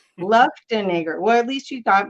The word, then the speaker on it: Luftenegger: Did I say right? Luftenegger. Luftenegger. Okay, I almost got it. I practiced even. Everyone gets it More though. syllables. Everyone says it a different way. Luftenegger.